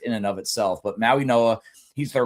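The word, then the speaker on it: Mauigoa: his name is Francis Maui Noah. It's spelled Maui Goa with a G. They spell they they pronounce things weird.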